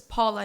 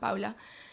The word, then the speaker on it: Paula: in saying my name, pronouncing it wrong on purpose, Paula, not Paula, so I might be understood, I might be included.